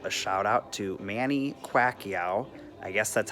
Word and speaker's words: Pacquiao: that and I go I believe he says quack eeeh or qua she air and lots of people have gotten it wrong anyways big shout out